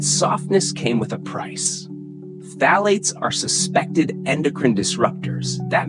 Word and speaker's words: phthalates: Which brings us to phthalates, a strange word, hard to pronounce. It sounds like a whisper with too many syllables, but phthalates, plasticizers, were used to make toys soft and flexible.